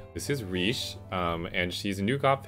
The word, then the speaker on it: Reeche: about the new GFE, which is Reeche, spelled like R-E-E-C-H, like Reese's, well not Reese's, no, there's no S in it, but like Reese's Cups versus R-I-I-C-H-E, which is